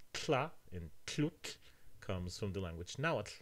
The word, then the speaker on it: tlhutlh: There are some sounds that the actor couldn't pronounce, such as the ones in tlut, to drink. The person said chlutz.